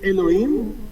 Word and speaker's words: Elhoim: Elhoim, God, I'm sorry, I'm going to mess it up. Elhoim. How do you pronounce it, your name? It's Elohim, but you can call me Elo.